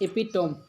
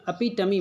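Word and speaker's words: epitome: इसका एक जो हिंदी मैंने जब प्रोनाउंसिएट करा तो ऐसी मिल रही है, अपिटमी मिल रहा है, ठीक है, अपिटमी। तो आप जैसा भी पढ़ पाएँ, एपिटोम पढ़ें तो भी ठीक।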